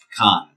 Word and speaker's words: pecan: i happen to know that it is properly pronounced pecan why because it simply means not and uh